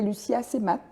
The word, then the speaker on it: Lucie Assemat: Marine Alla, donc co-réalisatrice de Ni les femmes ni la terre, et Lucia Semat, j'ai bien prononcé?